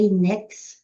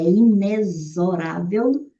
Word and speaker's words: inexorável: Lembre-se de que aqui esses esse X soa como se fosse um Z, então não é inex, é inexorável.